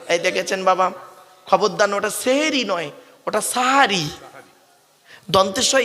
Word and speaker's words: সাহারি: দন্তের স্বয় আকার আচ্ছা সেহেরি আর সাহারির মানেটা কি সিনে জের দিলে সিহিরুন মানে হলো জাদু করা আর সিনে জবর দিলে সাহারুন মানে হলো রাতের শেষ অংশের খাবারকে আরবিতে সাহারি বলে সেহরি নয় তাহলে শব্দটা কি হবে বাবা সেহরি না সাহারি তাহলে ভুলটা ভাঙলো খবরদার আর বলবেন না সেহরি আমার মা বোনরা সেহরি বলবেন না সাহারি বলবেন আরেকটা কেমন টাটকা ভুল